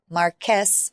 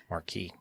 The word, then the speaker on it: Marquess: The main character of the story is Harry Beresford, the third Marquess of Waterford. Marquis. That's not how it pronounces on the thing.